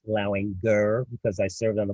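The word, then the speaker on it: Lauinger: And yes, it is pronounced Lowinger because I served on the Board of Governors with Tony Lowinger, even though everybody calls it Lounger.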